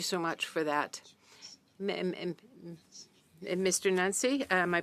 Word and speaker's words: Nenci: Nancy, am I pronouncing your name? Nancy.